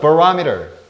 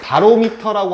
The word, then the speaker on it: barometer: barometer. barometer라고 하는데 바로미터라고 하는데 사실 잘못된 발음이고 barometer 하는데 여기서 이제 미터가 재다는 뜻이고 요 앞부분에 이게 바로 기압, 대기압이라는 뜻이에요.